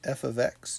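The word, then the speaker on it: f(x): right for example one here we're gonna evaluate f of x equals negative four x plus seven when x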